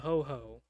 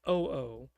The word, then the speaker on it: Ho Ho: It's a cheap peasant artillery called the Ho Ho. It means arrow arrow in peasant speech. The Gowin speakers have a hard time pronouncing it and call it Oo, which makes the peasants laugh because that's a prostitute who has disabilities.